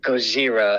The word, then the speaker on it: Gojira: He is a huge Godzilla fan, or Gojira, as he would like to say, if you wanted to say it correctly.